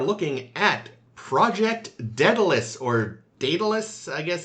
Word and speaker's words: Daedalus: Not to be confused with the Enterprise episode of Detalus. It's pronounced Datalus.